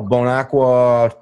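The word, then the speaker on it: Bon Aqua: name of the town bone aqua I don't know that's how they pronounce it right there right no bone aqua Tennessee which is a stacker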